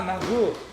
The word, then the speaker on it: Margot: Tu connais C'est qui Marco? Marco, c'est elle. Marco? Ah, Margot! Margot. Margot. C'est difficile pour moi de prononcer les R et les G en même fois.